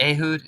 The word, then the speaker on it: Ehud: I probably asked you this before, but since is it Ehud? Is that how you say his name? I killed. Ehud, Yeah.